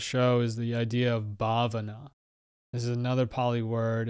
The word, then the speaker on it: bhavana: about on this show is the idea of bhavana this is another poly word it's spelled b-h-a-v-a-n-a bhavana and it means cultivation so